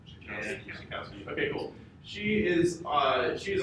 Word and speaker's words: Schakowsky: Schakowsky.